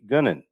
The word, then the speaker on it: Gunnin: mr david sadman how you doing and gunnin what's up everybody i pronounced that did i pronounce that correctly yes gunning yes correct now gwen in that goon and